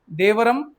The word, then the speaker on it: Devaram: देवरम, compose bye न्यानर्स।